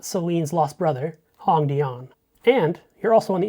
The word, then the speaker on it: Hongdian: You already know from Hong that the O makes the ah sound. So, it's not Hongdian cuz this is an A. It's not Celine's lost brother, Hongdian.